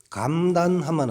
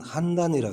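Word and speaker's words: 邯鄲: 근데 여기 감으로도 한인데 보통 한인데 땅 이름 감으로 뭐 더 쓰이죠. 감. 그러니까 요거 감단하면 안 되고 요거는 요때는 한단이라고 읽어야 됩니다.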